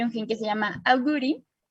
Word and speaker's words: agouti: gen que se llama agouti, así se pronuncia en inglés, de unas ratitas que